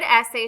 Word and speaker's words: essay: There are two syllables in essay. In the second syllable, two vowels A and Y are together. The vowel A makes a long sound and the vowel Y is silent.